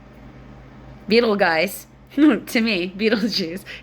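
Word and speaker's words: Betelgeuse: kidding that's its name it's spelled like Beetle guys but you pronounce it like Beetle Juice Beetle guys to me Beetle Juice it's the shoulder in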